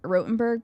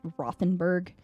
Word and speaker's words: Rothenburg: We went to this place called Rothenburg. People pronounced it Rothenburg, but like if you spell it out in English, they would say it's Rothenburg.